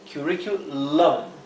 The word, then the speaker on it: curriculum: Así que estamos prestando atención acá, la U de la última sílaba. Lum, suena curriculum. Es la última sílaba, tenemos la U y luego una consonante, ¿sí?